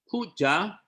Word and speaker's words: puja: It is very important for us as students of the Buddha Dharma to know that puja, pronounced as P-O-O-J-A, puja is not a direct telephone line telling the Buddha what to do.